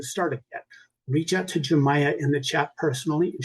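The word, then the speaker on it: Yemaya: It's pronounced Jamaia, but it's spelled Yaya.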